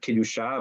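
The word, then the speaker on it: קדושה: the highest form of Kedusha, of holiness. Without that conversation, without that guide, without that communication and that sanctity, you pronounce it a little bit different and you have the word Kedesha, which is very much not a holy endeavor.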